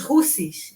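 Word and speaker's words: Houthis: hamas assim como rebolá que se chama os russes né se escreve R mas é russ is que fala e eles é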